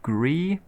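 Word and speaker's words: Gris: I might be playing, still don't know how to pronounce it, Gree.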